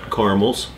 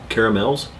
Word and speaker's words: caramel: looked it up and they are both allowed pronunciations spelled out caramel or